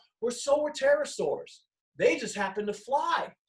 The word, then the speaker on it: Pterosaurs: Let's start with the name Pterosaurs. I'm saying T, the Pterosaurs, right? But if you see the word, it starts with a P. The P is silent.